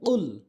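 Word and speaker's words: قُلْ: হবে অর্থাৎ গোড়া থেকে জিহ্বার গোড়া থেকে উচ্চারণ হবে কুল তাহলে সঠিক অর্থ দাঁড়াবে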